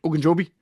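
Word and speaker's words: Ogunjobi: on defense and know Larry oen Joby I pronounced that right oen jobi nailed it yeah in fact he didn't not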